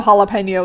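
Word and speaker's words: jalapeño: Like, obviously I know jalapeno is how it's pronounced, right?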